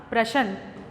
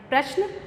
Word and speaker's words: प्रश्न: कुछ लोग कुछ शब्दों में आने वाले आधे अक्षरों अर्थात हलंत युक्त अक्षर जो होते हैं उनका पूरे अक्षरों की तरह उच्चारण करते हैं। जैसे प्रश्न, और लोग उच्चारण करते हैं इसका प्रश्न। इंसान इंसान, जबकि ये दोनों इसके गलत उच्चारण हैं। इसके सही उच्चारण हैं प्रश्न और इंसान।